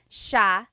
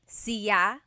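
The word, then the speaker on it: siya: It's sha sha. The s i y combination makes the sha sound in tagalog. Some regions say sya but in the luzon central luzon area in the tagalog region it's sha sha.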